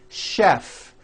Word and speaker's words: chef: things even more difficult there are a couple of words that are spelled with ch and are also pronounced with a sound words like chef and the city of